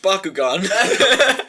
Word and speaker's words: Bakugan: and you're like, it's pronounced Bakugan.